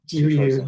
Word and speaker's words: Jiryu: I assume you've read, is it Jirio? Is that how you say his name? Jiryu, yeah, a good friend of mine.